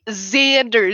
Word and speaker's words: Xander: Mine is not a Z name, thank you. It is Xander Zaroka. It's the pronunciation.